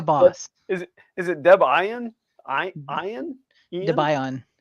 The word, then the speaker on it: Debian: Debian, because it's named after the main devs. All right. That's good to know, John. Thank you. Ian and his wife / partner, Deb Ian.